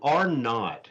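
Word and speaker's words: R₀: So R-naught, that's how you say it. When you see it written, it's actually a capital little R with a subscript little 0 after it. And so another word for zero is naught.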